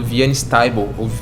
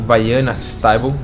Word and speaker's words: Vianna Stibal: O Theta Healing foi criado por uma pessoa que mora nos Estados Unidos, chamada Vianne Stibal, ou Vianna Stibal, a gente pronuncia das duas formas aqui, e já tem 20